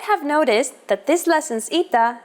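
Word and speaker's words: ήτα: complicated history of ITA at first it is generally believed to be pronounced like a long version of Epsilon and sounded like e after the Classical period however it sounds started to change and merged with Yota as did another letter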